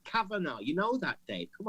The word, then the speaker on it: Kavanaugh: Think of the GH. Kavanaugh.